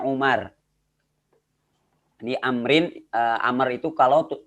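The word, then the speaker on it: عمر: di dalam bahasa Arab kalau di akhirnya ada Wow ini dibacanya Amr kalau enggak ada Wow dibacanya Umar di Amrin Amerika kalau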